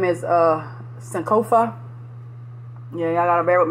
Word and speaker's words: Sankofa: But yeah, I'm going to say it, and then I'm going to spell it, and then, you know, y'all can go from there. But it's Sankofa, S-A-N-K-O-F-A, Apothearchy, A-P-O-T-H-E-C-A-R-Y, Sankofa Apothearchy.